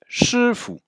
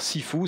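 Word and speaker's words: 师傅: Alors, Sifu, c'est la prononciation de chefu en cantonais. En mandarin, on dit chefu.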